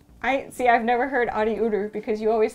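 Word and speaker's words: ありうる: Oh, but technically it's ariuru.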